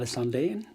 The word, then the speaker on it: Sandén: because we're gonna have michael sandon or mikhail sandeen as it's pronounced in sweden and my artist in